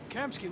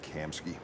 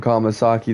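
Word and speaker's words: Kamski: I've been calling him Kamasaki this whole time. And it's Kamsky. Or is is Hank mispronouncing it? because it looks like it sounds like Kamsky honestly, but I assume Kamasaki,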